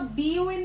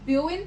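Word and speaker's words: びょういん: इसको आप बीओ इन नहीं पढ़ोगे, इसको आप ब्यो इन पढ़ोगे।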